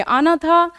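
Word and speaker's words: Agnatha: नहीं है उसको बोलेंगे आना था जी साइलेंट होता है इसीलिए आना था प्रोनंसिएशन कर रही हूं मैं जी बीच में साइलेंट है नथो स्टोमेटा जिसमें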